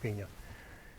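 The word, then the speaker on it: paññā: as much as possible looks like Pana but it's pronounced Pina and it means wisdom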